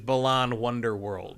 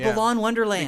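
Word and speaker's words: Balan Wonderworld: Well, almost because they said everyone gets the name wrong. Because it is Balan Wonder World. Yes, Wonderland. I do the same thing. I call it Balan Wonderland because Wonderland is just a more natural word to say because of Alice in Wonderland.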